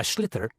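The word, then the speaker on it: sliotar: this ball called a schlitter that's s l iot so it's not spelt the way it's pronounced you hit it into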